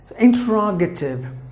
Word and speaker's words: interrogative: But if it is an American pronunciation, the T is pronounced like a D because it is in between the vowels. So interrogative.